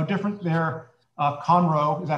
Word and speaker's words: Conroe: who live there now how different their uh comro is that how you pronounce it yes um uh is from the